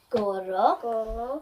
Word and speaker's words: gorro: Gorro. Gorro. Gorro. Maisie was saying that she can't really roll her R's very well. It is a little bit tricky, Lucia.